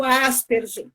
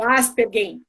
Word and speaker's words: Asperger: Que é até pouco tempo atrás chamado Asperger, ou Asperger, né? Depende de quem, da pronúncia, né?